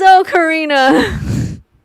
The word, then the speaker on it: ocarina: It is O Karina. Or looking at how to pronounce the name of this musical instrument in Italian since its origin.